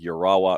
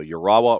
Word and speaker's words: Urawa: in the J League, Urawa Red Diamonds. You see, you can't slur that. It's got to be something that's done, piecemeal. You have to do it a syllable at a time. So Urawa Red Diamonds in the